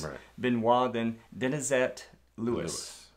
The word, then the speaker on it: Benoit: me no way and her last name was be e and oh I T and it was pronounced Benoit okay so I that